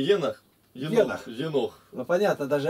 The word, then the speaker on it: Енох: Вот где надо букву здесь, ставить на последнее ударение там, а тут Енох.